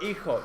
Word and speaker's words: hijo: The H is silent. The J makes the H sound.